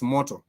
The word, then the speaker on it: moto: you do say fire you were saying mot m o t o which sounds like a Japanese word m o t o Moto is for fire m o t o is motor but if you also